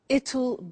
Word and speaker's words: it'll: I said tomorrow it'll be cold. You notice how it will becomes it'll.